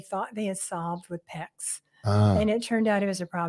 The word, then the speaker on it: PEX: PEX, right? Mm-hmm. Yeah. It's that we didn't pronounce it wrong. It's not pets. It's PEX, PEX.